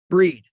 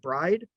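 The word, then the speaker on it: Bried: is in david okay breed is how it's pronounced but i can't tell you after 50 years how many people still pronounce it bride bredon broden bard and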